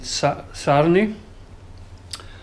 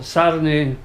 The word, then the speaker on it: Sarny: So Sarny is what I think it's called.